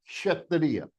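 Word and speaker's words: क्षत्रिय: Half Ka, half Murdanya Sha. It gives you Sha, Sha, Sha, Kshatriya, Sha. It has a peculiar movement. Kshatriya, Sha. Okay? This is the right pronunciation.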